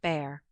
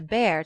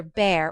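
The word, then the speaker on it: Bhaer: at his horrid name it isn't pronounced either bear or beer as people will say it but something between the two as only Germans can give it I'm glad you both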